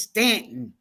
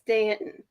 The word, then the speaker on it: Staunton: You know, and my pronunciation is like Stanton and Staunton. Stanton. It's Stanton. It's Stanton.